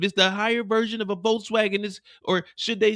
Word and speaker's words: Volkswagen: So it's Volkswagen. That's just a little something for you guys. It's called Volkswagen. It's not Volkswagen. Just a heads up for you guys. Volkswagen is not Volkswagen. It's pronounced Volkswagen in German.